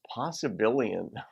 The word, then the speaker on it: possibilian: I call myself a possibilian and the idea awesome billion how does he spell that is he billion b-i-l-i-o-n like there are a billion possibilities uh possibilian it's like an amphibian the issue with possibilianism